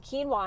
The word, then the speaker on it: quinoa: post earlier today about quinoa and I remember when I first heard about quinoa my girlfriend Sabrina I'm gonna call you out on this one I remember trying to pronounce it as Quin OA cuz I had no